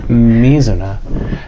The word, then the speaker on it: Mizuna: Is the emphasis on the first syllable? On the me. Okay, Mizuna.